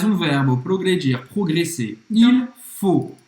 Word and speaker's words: faut: Il faut. A-U em francês tem o som do O. E o T é mudo. Faut. Então, il faut étudier tous les jours pour progresser.